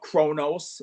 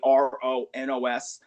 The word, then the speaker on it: Kronos: number 5 would be Kronos, which is spelled with a K, Kronos, Colossal Metal Strife.